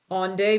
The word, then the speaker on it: Onde: He's like, you don't pronounce the E.